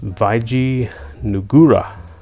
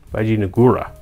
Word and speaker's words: Vijayanagara: So it's Vijayanagara. Vijayanagara. Instead of Gara. Vijayanagara. It's Nagara. Nagara.